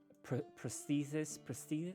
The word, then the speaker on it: prosthesis: It's a very rough cast iron prosthesis. How do you do you pronounce that?